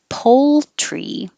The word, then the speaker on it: poultry: than chicken, which is poultry. And you have to hold your tongue in the L position a little longer so you can hear it before you make the TR.